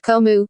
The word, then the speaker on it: COMU: crown ownership monitoring unit comu pronounced KOMU from November 2009 to